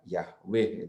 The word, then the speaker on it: Yahweh: huruf besar semua, itu dalam bahasa Ibrani yang ada adalah 4 huruf YHWH yang biasa dibaca dengan Yahweh itu ya. Itu adalah nama Allah Israel. Tetapi Yahweh, Allah Israel, begitu membacanya.